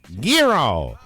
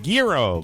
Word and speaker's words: gyros: delicious lamb and beef gyros now i pronouncing gyros we used to work with a radio personality who said gear oh and I suppose that is the proper Greek pronunciation yes giro gordon Liddy yeah that's